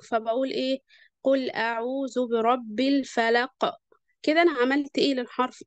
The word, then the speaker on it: الفلق: قل اعوذ برب الفلق، حرف القاف احنا وقفنا عليه لان احنا لازم نقف عليه، فلما نيجي ننطقه بنسكن الحرف ده، ولما نيجي نسكنه بنعمل له ايه، ذبذبة. يعني بنقول ايه، ما ينفعش مثلا اقول ايه قل اعوذ برب الفلق، حرف القاف مش هيتسمع كده، لكن لازم اعمل له